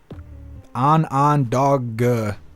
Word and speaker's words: Onondaga: I don't know how to say this county's name. It's like all vowels. It's like Onondaga County. That's literally how it's spelled.